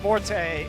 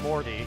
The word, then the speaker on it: Morty: way are dealing death the proper pronunciations are valaya and Morty we have actually asked the players this it's not morte it's Morty I've seen people you